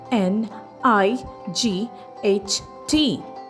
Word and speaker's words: knight: It is spelled as k n i g h t night.